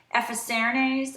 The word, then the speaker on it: Effacernes: up the Lancome and I think you pronounce it epas seres I think that's right it is the concealer